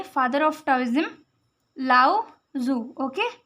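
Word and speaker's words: Lao Tzu: और टाओइज्म के फादर थे, फादर ऑफ टाओइज्म, लाओ जू। ओके, ये टी यहाँ पे साइलेंट है, लाओ जू।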